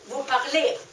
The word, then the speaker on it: vous parlez: add the ending EZ You don't pronounce z in the end of words but you pronounce the E in EZ Vous parlez = voparle And at the last